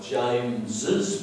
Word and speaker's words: James's: end in s because we pronounce the second s like James's pen so we do James Z we do need to